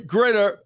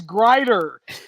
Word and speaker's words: Grider: good if you could pronounce my last name correctly it is Grier easy easy Mr Grier